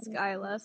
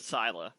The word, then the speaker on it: Scylla: pronounce my character's name and it actually is skyla so however you want it to be pronounced is the right way if you like scilab better then we will stick with syla but if you prefer skyla skyla will work